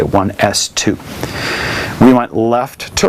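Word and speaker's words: 1s²: the way you say you don't say 1 s squared say 1 s 2 we went left to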